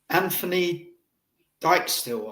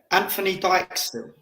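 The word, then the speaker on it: Dijksteel: Anthony Dijkstill, I think. Yeah, it's got to be. The Dyke is like Virgil van Dijk, isn't it? Anthony Dijkstill.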